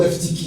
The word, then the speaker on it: Eutychus: Ça te demande de dire Eutychus. C'est pas facile à prononcer. Hein. Ou Eutychus, c'est plus simple aussi.